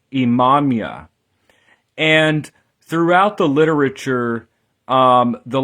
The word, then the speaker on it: Imamiah: So Imamia, in Hebrew, this is Ayin, Mim, Yud, He, Imamia.